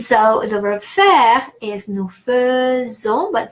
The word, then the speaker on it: faisons: So AI is pronounced E in French, but exception is the verb faire. So in the present tense, the verb faire is conjugated. Je fais, tu fais, il fait. It's spelled AI, so that's why we pronounce E. But then nous is nous faisons, instead of E, even though it's spelled AI, so it's nous faisons.